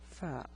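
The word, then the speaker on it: ف: this is the letter fa the pronunciation is f it's like the English f f so with different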